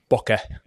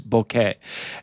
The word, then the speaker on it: bokeh: I'm from the north of England, so I probably thought it was pronounced bokeh.